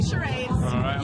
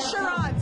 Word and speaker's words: charades: we're going to play charades you've been calling it shad's all night that's not how you say it okay so on